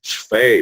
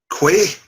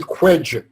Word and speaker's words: Fay: And it's Chris Fay, by the way. Quay? Say? No, How do you pronounce it? Fay. Yeah, but in the books, in the audio, they call it, he pronounced it as Quedge. No, he is. It's a joke in the other one, Original Sin, that it's actually Chris Fay, but he pronounces it Quedge. To make it easier for him because they screw it up.